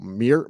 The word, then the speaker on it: Mierlo: Mierlo.